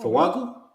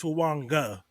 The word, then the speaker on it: Fuaga: Fuaga? Or the dude from Pitt, or the dude from Penn State. Fuaga. Dude from Penn State. No, Fuaga. No, Fuaga. So it's actually pronounced with an N. It's Fuanga.